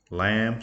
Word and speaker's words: lamb: Lamb, silent B at the end, L-A-M-B.